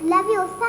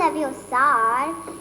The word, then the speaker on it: Leviosa: It's Leviosa, not Leviosar.